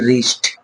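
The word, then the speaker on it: wrist: আরো এক্সাম্পল পেয়ে যাব ডব্লিউ আর আই এসটি রিস্ট আমরা আরো এক্সাম্পল পেয়ে যাব রিঙ্কেল মানে অর্থাৎ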